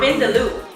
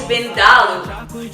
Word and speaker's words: Vindaloo: That's the correct pronunciation of the dish. It's not Vindaloo, it's Vindaloo.